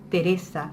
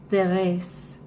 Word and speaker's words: Teresa: A mí siempre me ha gustado pronunciar mi nombre, Teresa, así en español, y no Thérèse, o Tete, ni ninguno de esos diminutivos en francés.